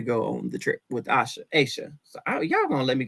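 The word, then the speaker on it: Aysha: Split the name between the Y and the S in it. Yeah. Make sure it's Sha. So it's really just like the letter A and Sha. Aisha.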